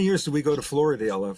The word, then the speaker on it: Florida: And I would say, "I went to Floridale." And they would say, "Oh, honey, you went to Florida." And I would say, "Nope, definitely didn't. Went to Floridale." And they would say, "Oh, honey, it's pronounced Florida."